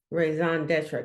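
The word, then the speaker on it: raison d'être: So I guess I want to see how this word is pronounced. Raison d'etre.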